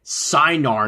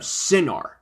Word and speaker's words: Cinar: canadian children's show production however i mispronounced it by calling it cynar instead of synar i wasn't sure of how the iron sinar was pronounced whether it was the long i sound or the short i sound but either way